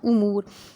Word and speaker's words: امور: اس کی جمع امور، الف کے اوپر پیش ہے، یہ تلفظ آپ نے بالکل درست بولنا ہے، امور نہیں کہنا، امور، جو ہمارے مختلف افعال